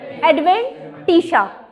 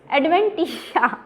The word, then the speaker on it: adventitia: Intima, second is media, third is दी एडवेंटिशा। शिया नहीं कहना, एडवेंटिशा, ठीक है। प्रोनाउंसिएशन देखना है इसकी, दैट इज एडवेंटिशा, ठीक है।